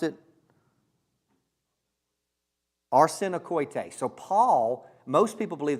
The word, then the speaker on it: arsenokoites: Josh, the word, how you pronounce it? Arsenokoites.